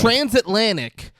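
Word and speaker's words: Transatlantyk: It's Transatlantic but it's spelled all weird. But it's absolutely transatlantic.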